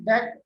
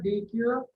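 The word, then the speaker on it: deque: Already told you, pronounced the DEC or DQ, which the elements can be inserted or deleted either and in constant time.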